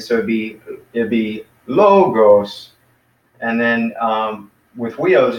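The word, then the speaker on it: λόγος: know low gross - two syllables with logos and the accent is on the first one not the second so be the logos and then with wheels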